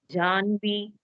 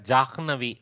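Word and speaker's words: जाह्नवी: Janhavi. That is a Nakara with Hakara. But actually, this is also Desha specific. I should very carefully say. Some areas they want to pronounce it as Jahnavi.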